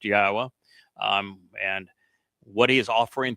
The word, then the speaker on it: Yahweh: is, why we know that his name is pronounced Yahwa, um, and what he's offering through his bar